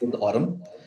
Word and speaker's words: Aurm: It's pronounced Aurm.